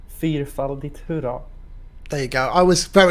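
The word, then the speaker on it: Fyrfaldigt hurra: It's not furry dick. It is, in fact, Fyrfaldigt, hurra.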